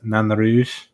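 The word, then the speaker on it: Nain Rouge: So, it's Nanou is technically how it's supposed to be pronounced.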